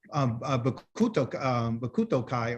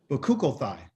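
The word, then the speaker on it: Bechukotai: So when Yah tells you, if you do my Kukim, okay, Bakuto Kai or Bakuto, I'm saying it wrong. Bakukothai, okay? Our Torah portion is Bakukothai, but you can pronunciate it in different ways.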